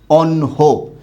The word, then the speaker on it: অন্য: কিন্তু কথা হচ্ছে উচ্চারণের সময় এটা কি হয়ে যাবে? ন যুক্ত হ হবে, আর এখানে অ আছে, সেই অটাকে যুক্ত করলাম, আর যেহেতু শব্দের শেষে অ আছে তাই সেটা ও হবে, অনহ।